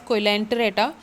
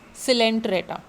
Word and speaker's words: Coelenterata: The O in it is silent, so you don't call it as Coelenterata, it is called as Coelenterata.